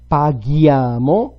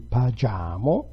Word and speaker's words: paghiamo: Paghiamo, without the H it would be pagiamo.